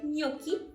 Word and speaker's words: gnocchi: Pero ellos pueden decir gnocchi, justamente, pronunciando la G con la N juntas.